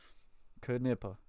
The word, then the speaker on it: Knippa: Knippa. Cleat Knippa. There you go. I have always said it wrong, Cleat, so I appreciate you on my correction there. Knippa.